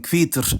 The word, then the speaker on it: hvítur: the ch into plosivity, so that digraph is now pronounced kv, like in kvitur and kvistra.